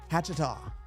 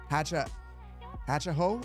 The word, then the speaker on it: Hatchaho: Hatchetaw. Hatchaho is how it's pronounced.